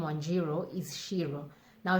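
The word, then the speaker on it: Ciro: akikuyu alphabet but yet this c is pronounced as sh and so my name in its short form is pronounced as shiro but yet spelt as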